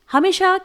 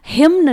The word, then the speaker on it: hymn: यहां पर इसे हम हिम्न नहीं पढ़ेंगे क्योंकि हमें एन को साइलेंट रखना है।